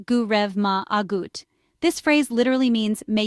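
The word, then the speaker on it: go raibh maith agat: The English phrase thank you is common in Ireland, but in Irish you can say go rive maith agat, pronounced gu rev ma agut.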